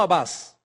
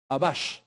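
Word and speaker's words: Atbash: Además, fueron capaces de crear una ley de interpretación conocida como Abbash, no abas. Abash.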